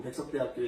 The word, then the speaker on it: 백석대학교: 저는 사회복지학부 백석대학교에 있는, 예, 발음 잘하셔야 됩니다. 백석대학교회가 아니라 백석대학교 사회복지학부에 있는 최유석 교수입니다.